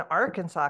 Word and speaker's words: Arkansas: for some people who don't know it is pronounced Arkansas not Aransas which is very close to us